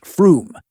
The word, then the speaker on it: Frome: Other head-scratchers include Us Wolfardesworthy, pronounced Woolsery, Mousehole, pronounced Mosul, and Frome, pronounced Froome.